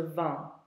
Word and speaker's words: vends: Je vends. Don't pronounce the S.